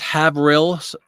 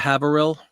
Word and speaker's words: Haverhill: graphic in your name it's pronounced have rails instead of Haverhill I love the coffee